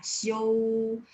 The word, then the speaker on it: Xiao: aiso returnya itu tadi ada yang tulis Xiao Xiao bacanya gimana Xiaomi adaanya Xiaomi yah Hai DJ Ungu Hai SMU Xiaomi ya show Ini yang benarnya tapi tadi saya lihat